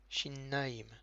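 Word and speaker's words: שיניים: Shen, au pluriel, shinnaim, donc c'est un shin, on voit bien le point en haut à droite du shin, le point en bas du shin qui s'appelle le hérik, le nun avec un patar, donc na, le yud avec un hérik yi, le même final m en fin de mot, donc shinnaim.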